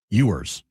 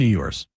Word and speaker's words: Ewers: The Dolphins are benching Tua for Quinn Ewers. Or Quinn Ewers. I don't even know how to say his name. You're right the first time. Quinn Ewers.